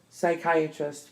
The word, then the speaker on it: psychiatrist: mo and IA pneumonia PS pronounced s psychiatrist psy CH i ATR IST psychiatrist PT pronunciation t